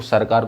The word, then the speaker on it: सरकार: ये नॉर्दर्न सरकार। इसे नॉर्दर्न सरकार, इनका प्रोनाउंसिएशन सही नहीं होता था, जिसको सरकार को सिरकार बोलते थे ये ब्रिटिशर्स।